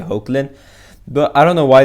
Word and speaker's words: Hoechlin: or hecklin as superman they pronounced as heckling in the panel but i usually say oakland but i don't know